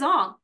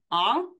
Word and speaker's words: Aang: They all called him Ong. Even the character introduced himself as, "My name is Ong," and we're like, "Ong? Why would you change the pronunciation?"